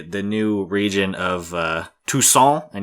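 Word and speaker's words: Toussaint: new region of uh tucon and you have to say it like a douchebag says croissant croissant eating croissant and Tuson which is it's great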